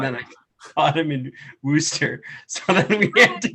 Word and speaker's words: Worcester: worcester easter yeah right everyone mispronounces that trust me yeah no i i knew it was wooster but i said worcester it's wooster some people call it warchester yeah i went to